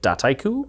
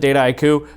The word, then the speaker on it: Dataiku: The French say data and haiku, and it's very soft H, so they tend to say it dataiku. Okay. Americans tend to pronounce it dataiku, but we're a pretty global company.